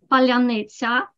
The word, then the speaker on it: паляниця: Petrenko says that there is a word that distinguishes Ukrainians from Russians because only Ukrainians can pronounce it properly. Palyanitsa, palyanitsa.